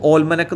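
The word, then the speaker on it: almanac: ഇൻ ആൽമൻ, ഇവിടെ ആൽമനക്കും ഓൽമനക്കും എന്നൊക്കെ ഉച്ചാരണം ഉണ്ട് കേട്ടോ. ഓൽമനക് എന്നും ഉച്ചാരണമുണ്ട്. ഓൽമനക്സ് അതായത് ഇയർ ബുക്ക് കലണ്ടറാണ് ഓൽമനക് എന്ന് പറഞ്ഞാൽ.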